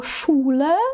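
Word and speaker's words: Schule: Ось, наприклад, є слово шуле, що означає школа. Так, у нас тут є два склади, тому що у нас є у та е, да, шуле.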